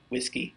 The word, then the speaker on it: WSGI: whiskey beer garden it just started with WSGI whiskey and there's a lot of names like that I also learned how to pronounce works ERG which is which is the